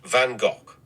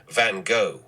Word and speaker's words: van Gogh: ah the Eternal question in my native Dutch it's pronounced vanok with a gutural at the end however many people around the world say van go or van goof I'm quite accustomed to